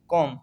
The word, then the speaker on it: comb: जैसे सेकंड है COMB कॉम, कॉम बी जो है साइलेंट है।